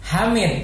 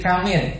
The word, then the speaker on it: Hamid: Nah, sehingga di sini kan kalau di Klaten itu ada nama maksudnya namanya itu Hamid tapi jadi Kamid. Nah, karena pelafalan huruf yang berawal dari pelafalan huruf yang salah, harusnya kan ha.